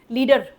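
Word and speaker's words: lead: लीडर लीडर क्या करता है?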